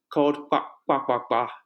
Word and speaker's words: kpakpakpa: My business called kpakpakpa Inc. Wow. Yeah, there you go. It's not so hard. For some people, the pronunciation is hard, so we just call it KPA.